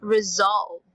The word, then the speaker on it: resolve: the word resolve okay say it's like having letter Z in the middle resolved okay okay so this